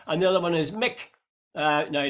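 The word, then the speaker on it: Muick: Mick is spelled M-U-I-K, and that's got to do named after a loch on the Balmoral estate.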